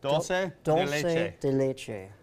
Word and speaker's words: dulce de leche: And how do you pronounce that again? Dulce de leche.